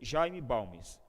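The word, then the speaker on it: Jaime Balmes: consciência da pessoa acerca da fragilidade da consciência pronuncia-se jayne balmes ele diz que a consciência é uma âncora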